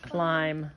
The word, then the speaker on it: climb: dana on his jacket so the b is silent on that second word climb yeah you don't hear the bee can you please help